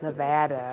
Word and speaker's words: Nevada: It is not Nevada, it's Nevada, okay?